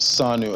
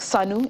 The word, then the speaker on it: Sanu: So it's spelled SANU as in... Almost like SANU in Hausa, but SANU means gold in Bambara, in Mali.